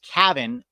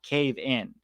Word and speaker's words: Caven: yes rascality clarifying uh Pete Caven is pronounced Cavin not cave in I think think Gavin